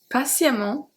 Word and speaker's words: patiemment: Constamment, patiemment, récemment. So the A and the E are pronounced exactly the same. They're pronounced A.